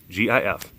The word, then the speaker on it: GIF: GIF. I think it's pronounced GIF. Even the man who invented the format said it was GIF. It's G is a G.